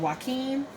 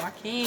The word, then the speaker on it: Joaquin: And again, Joaquin, that's his name, right? Is that how you pronounce it? Yeah. Mm-hmm. Joaquin.